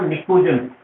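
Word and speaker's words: pnictogens: So those gases are called nicogens. So इनको अपन nicogens कहते हैं. Just remember this. And the 16th is, first element is oxygen in 16th. Yes, P is silent here.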